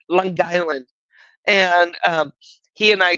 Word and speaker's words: Long Island: was from Long Island he said I did pronounce that correctly it's all one word longland and um he and